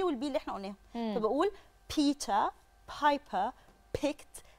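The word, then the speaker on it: Peter: اسم واحد اسمه بيتا اللي هي الار في البريتش اكسنت مش بتتنطق الا لو جه وراها اي او اي او اي او او او يو ايو يعني اوكي ايو هي دي لو جت ايو ننطق الار ما جتش ايو ما ننطقش الار اوكي تمام بيتا الار بتبقى متعلقه خالص بيتا بايبر ده اسم بني ادم لا واسم بيتر ده اصلا منتشر في مصر قوي بس بيتقال بيتر يا لا بيتر بيتر, بيتر والله عايز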